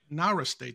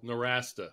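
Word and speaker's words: Nowrasteh: that's co-authored with Alex Nara state did I pronounce that correctly no norasta is how he's the rasta okay I apologize to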